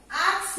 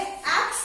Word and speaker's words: ask: यूज करने के बदले आस्क यूज किया। प्रोनाउंसिएशन देखो, आस्क यूज करने के बदले एक्स यूज किया।